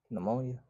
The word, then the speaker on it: pneumonia: throat and Diplo coaxial start with a p and the p is silent pneumonia yes that is correct